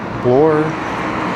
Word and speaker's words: Bloor: Say Bloor, you'll hear blur, Bloor, Bloor. I think most people in the city pronounce it the way I do.